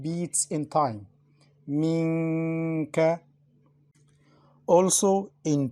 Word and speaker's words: منك: For example, first letter, Minka. We pronounce Noon unclear, also with Ghunna, to prolong it.